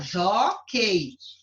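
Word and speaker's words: jóquei: Joquei. Você sabe que eu não pronuncio esse U aqui, então ficou o EI, ó.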